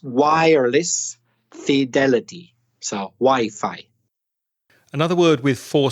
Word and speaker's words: Wi-Fi: right now is Wi-Fi don't you mean we fee uh-uh-uh I definitely mean Wi-Fi but so many Spanish speakers have said it the incorrect way that crazy said but it's not it's Wi-Fi that's kind of logical